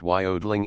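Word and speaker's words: jodling: the jod Ling pronounced Wy odling emphasis on the o continued and was very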